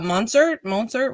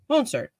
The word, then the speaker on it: Mostert: Yeah, you're playing against me because I have Monsert, whatever his name is, but he's hurt, so I had to bench him. Monsert. How do you say his name? Mostert.